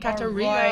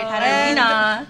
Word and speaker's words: Katarina: on Twitter Yeah That's How You Say it Katarina Katarina that is it for today's podcast we're so